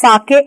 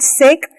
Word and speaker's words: sake: so let's read further s-a-k-e here on the right side a popular Japanese drink sake is a popular Japanese drink sa is pronounced like far in father and K rhymes with